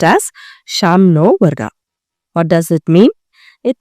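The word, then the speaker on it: शं नो: Sam noa. It is pronounced as sham noa.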